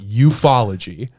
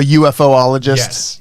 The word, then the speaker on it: ufology: big ufologist right and that's how you pronounce it ufology instead of a ufo ologist you follow ufology is